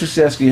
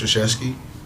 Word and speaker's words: Krzyzewski: But Coach Krzyzewski had a great career, man.